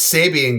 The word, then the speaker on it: Sabian: get a whole pack of them um love Sabian uh so thank you to Sabian for sending this I love the symbols and thanks for sponsoring it and um Sabian that's how you pronounce it it's Sabian guys yeah and Andy zilan is one of